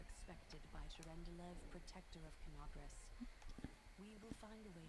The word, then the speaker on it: Kenabres: Okay, that's how you pronounce it. Kenabres.